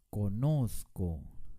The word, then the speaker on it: conozco: ni tampoco conozco la manera correcta de pronunciar esta palabra es conozco con mucho énfasis en la penúltima sílaba bien ahora vamos a